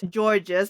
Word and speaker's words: Georges: Because I know it's George, and I know it's not the same as gorgeous, so it's Georges, but I'm like, I have to think so hard.